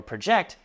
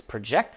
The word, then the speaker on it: project: As a verb, which means to calculate or estimate, it is pronounced project, stress on the second syllable, as in scientists project the comet's path using data from telescopes.